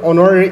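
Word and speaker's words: honorary: ব্যবহার হব আর যেহেতু অনারেরি এইচটো সাইলেন্ট হয়ে আছে ইয়াত এন আর্টিকলটো ব্যবহার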